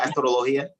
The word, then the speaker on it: astrologia: Astrologia, right? Astrologia. Am I accenting the right syllable? Astrologia? Okay. Exactly.